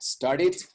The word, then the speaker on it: started: always ted and dead those are your two exceptions otherwise never pronounce the e so here we have two instances on this page we had started start it would be the right the right pronunciation and uh sorry one